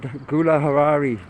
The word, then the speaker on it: Gulahari: Oh, Gulahari the Google lady said Gulahari. She seems to pronounce it correctly.